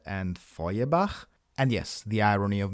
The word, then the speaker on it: Feuerbach: They are pronounced Nietzsche and Feuerbach.